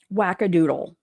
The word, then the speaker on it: wackadoodle: Wackadoodle. Wackadoodle rhymes with poodle.